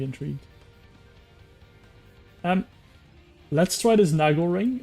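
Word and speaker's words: Naglering: I consider be intrigued um let's try this Nagle ring nagly ring I know it should be pronounced Nagle but I'm just going to call it nagly ring Nagle ring uh it should afflict 350 Arcane damage to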